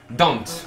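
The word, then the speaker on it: Dhont: Dante, ok, parce que je savais pas du tout comment prononcer.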